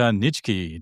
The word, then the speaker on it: Nitschke: My guest today is Peter Nichki. Did I pronounce that right?